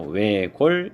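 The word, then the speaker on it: 외곬: 4번 리을 시옷인데 시옷은 음절 끝소리 규칙에서 발음되는 것이 아니라 리을로만 소리가 나겠죠. 그래서 외골 이렇게 발음하는 것이 맞습니다.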